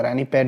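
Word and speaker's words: Ranipet: Was establish in 1906 रानीपत इन तमिलनाडु। अब text book में PAT दिया हुआ है, जबकि अगर आप देखोगे इस स्पेलिंग को तो रानी PET दिया हुआ, रानी पैट भी बोलते हैं इसको।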